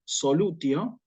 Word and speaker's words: solutio: Nosotros acá tenemos la palabra solutio, que si yo la digo, la pronuncio como, tal cual como acabo de decir, solutio, la estoy pronunciando en latín clásico, solutio, la T inalterable, ¿sí?